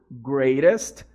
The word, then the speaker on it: greatest: Você pode repetir comigo, greatest. E aí você pode fazer esse som de R aqui no T, né? No greatest, ok?